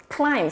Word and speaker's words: climb: catch 할 때 T 소리를 내지 않고 climb 산을 오르다 할 때 B 소리를 내지 않고 그러니까 boat, that, 비지어 비 할 때 that 이럴 때도 B 소리를 내지 않아요.